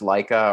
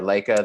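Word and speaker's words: Laika: and then this uh I think it's pronounced Leica or Leica the studio that makes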